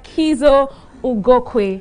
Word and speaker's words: Kiszo Ugokwe: Kiszo Ugokwe. Yes. Did I pronounce that right?